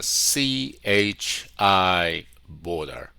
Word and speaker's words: CHI Border: We're located in Chicago, and our company's name is pronounced as a CHI Border.